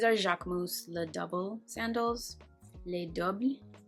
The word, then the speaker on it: Les Doubles: Les Doubles, I believe is how you would pronounce it in French.